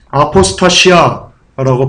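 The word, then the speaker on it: ἀποστασία: 여기서 떨어져 나가는 일이요, 원어로 아포스타시아라고 발음합니다.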